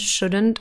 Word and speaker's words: shouldn't: verbs with silent letters would could should the l is silent in all three so wouldn't couldn't shouldn't also have a silent